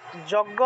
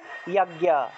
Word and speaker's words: যজ্ঞ: তারপরে যজ্ঞ আমরা বলি না, বাংলায় বললে যজ্ঞ, সংস্কৃত উচ্চারণ হবে ইয়াজ্ঞা, ইয়াজ্ঞা, ইয়াজ্ঞা, ঠিক আছে, ইয়াজ্ঞা, ইয়াজ্ঞা, এইভাবে।